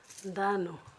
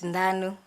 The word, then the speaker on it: Nanu: Danu. Have I pronounced it properly? It's Nanu.